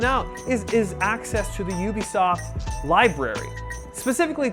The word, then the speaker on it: Ubisoft: Company president Yves Guillemot says the official pronunciation is Ubisoft.